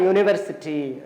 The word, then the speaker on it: university: ஏன் இங்க ஏ யூஸ் பண்ணிருக்கோம் அப்படின்னு பாத்தீங்கன்னா யூ சவுண்ட் எங்க இருந்து ஸ்டார்ட் ஆகுது? ஒய் பிளஸ் யூ அப்படின்னு ஸ்டார்ட் ஆகுறதுனால ஒய்ல தான் கான்சோனன்ட், அதாவது சவுண்ட் யூ அப்படின்றத ப்ரொனவுன்ஸ் பண்ணீங்க, யூல ஆரம்பிக்கக்கூடிய வேர்டு எல்லாமே வந்து Y bless you, right? So Y bless you சேர்ந்தாதான் யூனிவர்சிட்டி, right? So யூனிவர்சிட்டி.